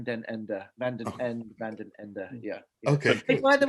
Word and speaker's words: Van Den Ende: How do you properly pronounce your last name? I still have a problem. It's Van Den Ende, Van Den Ende, Van Den Ende, Van Den Ende.